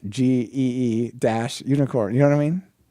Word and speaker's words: Gunicorn: But if they just put a little MP3, like or even just a word, it's pronounced GEE - unicorn.